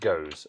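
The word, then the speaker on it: Gose: Pronounced goes.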